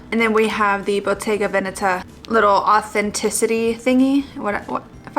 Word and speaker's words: Bottega Veneta: And I was also told by my husband that it is pronounced Bottega Veneta, because apparently Veneta is an area in Italy. Like it's a little, I'm gonna say this wrong, maybe like a city or something.